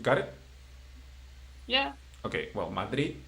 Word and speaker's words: Madrid: Okay, if there is no tilde, the strong syllable is the last one, the last syllable, if the word ends in a consonant. Exception, N or S. Okay. Okay, for example, Madrid, in which consonant it finished? D or D, right? So it means Madrid.